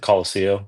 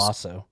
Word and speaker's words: Colosso: he walks out of, is it the Colosseo? Is that how you say it? I think they call it when the he was- Colosso. Colosso, sorry. Mhm.